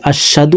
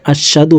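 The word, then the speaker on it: أشهد: সলিহি আশহাদু আল্লা ইলাহা আমরা অনেকে এখানে এভাবে পড়ে থাকি আশহাদু আল্লাহ পড়ে থাকি এখানে আশাদু হবে না হার উচ্চারণ হলুকের শুরু থেকে পড়তে হবে আশহাদু আশহাদু আল্লা দর্শক এলামকে চার আলিফটান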